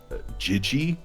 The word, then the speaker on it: Jyggy: uh $10 donated by jigi jigi I think that's how it's pronounced j y g g y yeah like JF yeah